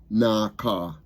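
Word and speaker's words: נחה: And then it's spelled Aka, but it's pronounced Naka.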